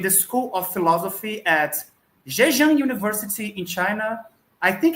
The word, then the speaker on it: Zhejiang: Bruno Betzen is an assistant professor in the School of Philosophy at Zhejiang University in China. I think it's pronounced this way. Correct me if I'm wrong. Yes, right, Zhejiang, yes.